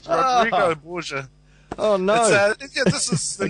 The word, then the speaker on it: Borgia: It's the Borgias. How do you say it? The Borgias. That sounds like a bad guy. It sounds like a bad guy from Doctor Who. No, it's the Borgia. Oh, the Borgia.